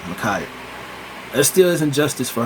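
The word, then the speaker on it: Ma'Khia: I was meaning to say it, but Micaiah, I believe that's how you pronounce it, Micaiah.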